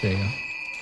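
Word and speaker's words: gaol: Yep, it's pronounced jail.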